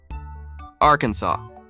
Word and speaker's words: Arkansas: only acceptable pronunciation is in three syllables with the final s silent the a in each syllable with the Italian sound and the accent on